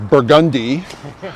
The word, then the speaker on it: Burgundy: you know uh um burgundy street uh like the region in france is burgundy uh calliope like the